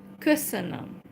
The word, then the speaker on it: köszönöm: Okay, so I have taught you one Hungarian phrase, köszönöm, köszönöm. But we say it like, it's one word, so köszönöm, thank you.